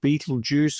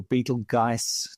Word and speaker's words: Betelgeuse: Uh we are also going to discuss the demise of Beetlejuice or Beetlegeist depending on how you like to pronounce it.